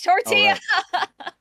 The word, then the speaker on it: tortilla: Lumi has a hard time pronouncing Spanish words. I'm trying to teach her. It's tortilla.